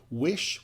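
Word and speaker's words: Wysh: Wish, that's spelled W-Y-S-H, we interviewed them last week on the show.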